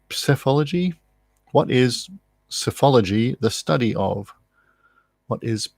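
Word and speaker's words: psephology: question 9 what is that's an interesting way to pronounce PS e ph o l OG y SEF ology pathology what is safe ology the study of what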